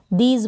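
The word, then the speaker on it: these: तो आप पढ़ेंगे इसको टी एच को द, क्या पढ़ेंगे द, ई और एस को स, दीज बन गया। क्या बना दीज। लास्ट में ये जो ई है इसका प्रोनाउंसिएशन नहीं होगा, और एस को आप ज पढ़ेंगे, एस को ज।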